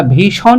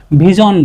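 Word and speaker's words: vision: অর্থাৎ এই যে আই একটা ভাওয়েল যার কারণে এটা আমরা ভিশন না বলে ভিজন বলব। এটা কি বলব? ভিজন।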